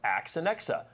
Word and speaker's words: AXANEXA: strum this morning we have Kelly Carpenter from Ax and XA I think I got that right you did